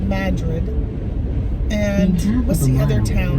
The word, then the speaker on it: Madrid: It's called Madrid.